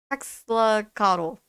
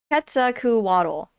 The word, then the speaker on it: Quetzalcoatl: I like cannot Quetzalcoatl. Oh my god. I'm so sorry for my butchering of the pronunciation.